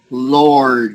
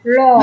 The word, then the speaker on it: Lord: Now, you haven't been used to this word, ein, Lord. Okay. Lord. Now, L-O-O. Lord. Yeah, that's it. That's it. L-O-R-D. Yeah. So it's sort of like low and then Lord.